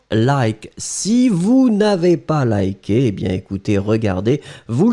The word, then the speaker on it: lier: Donc on le prononce li, mais on va l'écrire L-I-E.